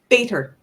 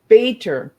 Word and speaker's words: Bator: Bator. Bator. Yeah, there we go. See, sometimes I pronounce the letters instead of the flow of the word, right?